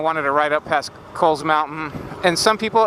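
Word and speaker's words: Cowles Mountain: to ride up past Coles mountain and some people it's not called cow's Mountain it's called Coles Mountain could look it up a lot of people say the name wrong even I used to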